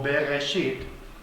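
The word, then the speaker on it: בראשית: Ustedes han oído no bereshit como se pronuncia no en hebreo se pronuncia más como berga shit ya que está esta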